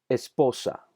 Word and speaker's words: esposa: en la última sílaba esposa el acento está en la sílaba de en medio ministerio sacerdote glorificar note